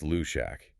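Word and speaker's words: Luidaeg: The decision to contact the Luig, which is pronounced Lshack, is the definition of an extreme last ditch measure.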